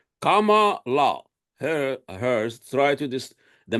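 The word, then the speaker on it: Kamala: say her name now Kama like Kama and La they taught us they teach us everything Kama La her hers try to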